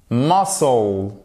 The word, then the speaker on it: muscle: On va pas chercher plus loin, mais vous voyez que le C, en fait, généralement, quand vous avez un se devant, vous ne le prononcez pas, ok?